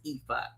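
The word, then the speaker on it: Ifá: So, apparently there and everybody in the chat is saying it's EHA, but it's spelled ifa and it's pronounced EA.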